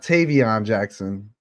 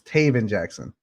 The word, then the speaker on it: Tav Jackson: week uh it's not Tavon Jackson it's Tav Jackson I know we we